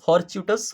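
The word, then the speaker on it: fortuitous: Okay, देखिए pronunciation यहाँ पे फॉर्च्यूटस। ओके, चूटस फॉर्च्यूटस लिखा हुआ, पार्ट ऑफ स्पीच की बात करें तो एडजेक्टिव, सिनोनिम्स की बात करें तो एक्सीडेंटल, लकी, अनएक्सपेक्टेड।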